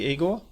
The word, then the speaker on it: Igor: Am I pronouncing your name correctly, Eigor?